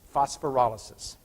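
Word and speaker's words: phosphorolysis: off a glucose it's a reaction we call phosphor alysus pH OS pH o r yl I'm sorry boss oh I'm saying Oly sis I'll spell that again pH OS phor oh L Y s is phosphor alysus okay phosphor alysus uses a phosphate to break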